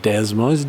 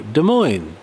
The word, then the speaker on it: Des Moines: from des moines iowa des moines is that how you say it does not desmos demo des moines right tim miller from